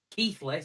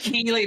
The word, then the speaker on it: Keighley: Keithley's show because it's Keithley how it's spelled. It's Keithley how it's pronounced because it's in Yorkshire. God. Okay. This Keely nonsense.